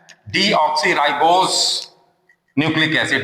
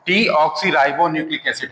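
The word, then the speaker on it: deoxyribonucleic acid: RNA ribo न्यूक्लिक एसिड कुछ लोग इसको गलत प्रोनाउंस करते हैं डीऑक्सीराइबोस न्यूक्लिक एसिड that is wrong डीऑक्सीराइबो न्यूक्लिक एसिड हम कहेंगे आरएनए को राइबो न्यूक्लिक एसिड कहेंगे तो दो तरह के ये हुए।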